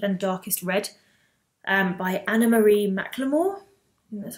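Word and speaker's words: Anna-Marie McLemore: is called deep and darkest red and by Anna Marie McLemore that's how you say her name um basically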